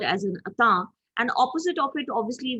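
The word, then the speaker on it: entente: explain it is a french word it is pronounced as atta although spelled as e-n-t-e-n-t-e it's a french word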